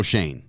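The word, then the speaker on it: Schoen: So I think I'm pronouncing the Giants GM's name wrong. That's Joe Shane. Yeah. Spelled the same.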